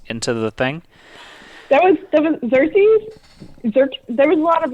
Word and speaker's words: Xerxes: how you pronounce it there's no k it's not a k it's cersei's it's xerxes watch the movie that's how it's pronounced he was a person